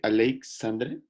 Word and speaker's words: Aleixandre: éstas está ignacio y esta alexandre como se pronuncia su nombre aleixandre aleixandre aleixandre y the ones tu nombre pues